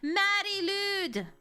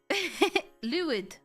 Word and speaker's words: Mari Lwyd: Mari Lwyd. Lwyd. Like the artist? No, you said it right. Welsh is weird.